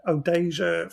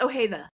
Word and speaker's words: Ojeda: I know you have Odeja Films. Am I saying it right? It's Ojeda. Ojeda?